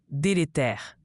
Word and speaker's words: délétère: Délétère se prononce dé lé tère.